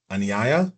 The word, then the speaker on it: Anaya: Anaya, is that how you is that how you say it?